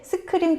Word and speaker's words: SQream: 사실 스크림 테크놀로지스 좀 생소한 회사예요. 네. 어떤 회사인지 약간 설명을 해주시죠. 네. 제가 그 본사에 최근에 출장을 갔었는데 네. 스크림이라고 읽더라고요.